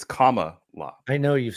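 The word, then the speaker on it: Kamala: like a hybrid between how I'm supposed to say it it's comma law I know you've said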